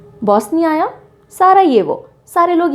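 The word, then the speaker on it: Sarajevo: capital is सारा येवो इसको सारा जेवो नहीं बोलते हैं सारा येवो कहा प्रोनाउंस किया जाता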